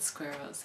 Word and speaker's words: squirrel: people to pronounce because it has both the r and l sound in it and those sounds are